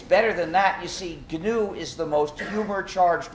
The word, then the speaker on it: GNU: and always will be gnu so please pronounce a hard G when it's the name of our system there's another pronunciation error